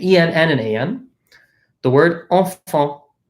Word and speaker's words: enfant: The word enfant. So notice, EN says en. Then we have another AN here. So enfant.